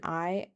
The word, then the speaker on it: Ai: on the west and Ai I think that's just pronounced Ai on the east.